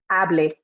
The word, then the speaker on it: hable: And now just to make sure you can hear the difference, if there's no accent on that E, I will pronounce it hable. So we have hable and hablé.